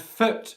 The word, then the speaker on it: foot: foot for example okay food which is the long english vowel sound and foot which is a short